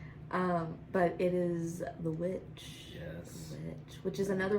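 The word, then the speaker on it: The VVitch: my number three uh is technically spelt with two v's um but you don't pronounce it that way yeah but whatever I feel like you should um but it is is the witch yes witch which is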